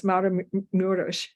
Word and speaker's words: Maramureș: Yes, Maramureș. Thank you for pronouncing everything correctly, which I haven't been.